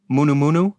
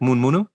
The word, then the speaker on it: munu munu: The word for morning is munu munu, pronounced in fast speech like mun munu.